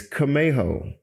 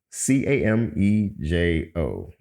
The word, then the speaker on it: Camejo: So it's Camejo, Camejo. It's actually a Hispanic last name.